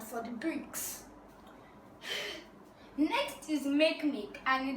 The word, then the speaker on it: Makemake: It's not called Makemake, it's called Makemake. That's the correct pronunciation.